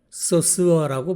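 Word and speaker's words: Saussure: 참고로 소시르를 영어로는 소스어라고 발음합니다.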